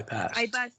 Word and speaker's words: passed: I passed, yes. Yeah. Okay. We don't pronounce the da. It's ta.